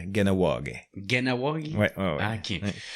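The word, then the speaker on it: Kahnawake: C'est comme Kanawagé. On devrait dire Ganawagé.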